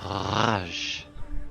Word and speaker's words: Raj: Do not roll your R's, but Raj.